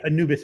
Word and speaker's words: Anubis: Is it Anubis or Anubis? Yeah, Anubis is probably the correct pronunciation.